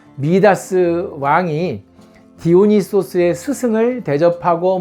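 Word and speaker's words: Midas: 그 선 증권과 의 마이다스의 손이다 부동산의 마이더스의 손이라 이런 말 하잖아요 & 영어식 발음 이거 원래 발음은 및 아스 네 바로 그 미다스 왕이 디오니소스의 스승을 대접하고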